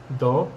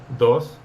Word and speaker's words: dos: explaining first of all we do not pronounce the letter S at the end of words for example when we say number two in Spanish we say do instead of Dos Nicaraguan says instead of